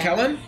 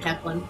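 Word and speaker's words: Caithlenn: It's pronounced Kellen? Yeah, it's pronounced Kellen. K Kellen of the Crooked Teeth. And if I spelled it that way, I would always pronounce it Kethlin.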